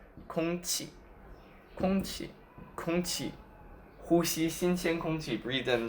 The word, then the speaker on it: 空气: Then there is the qi, like in 空气, which means air. Let's pronounce 空气, 空气, 空气.